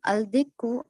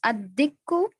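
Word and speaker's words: الدِّيك: to the solar letter, that is Al-Najmu, Al-Rajulu, Al-Dikku, Al-Samaku. Al-Najmu becomes an Najmu, Al-Rajulu becomes Al-Rajulu, Al-Dikku becomes Ad-Dikku, Al-Samaku becomes As-Samaku.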